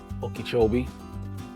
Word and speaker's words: Okeechobee: You're not too far from Lake Okeechobee. Yes, I finally said it right. I've been saying it wrong all this time.